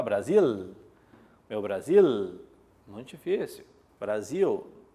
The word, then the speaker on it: Brasil: Brasil, pluvial, o som do L no final sai como U.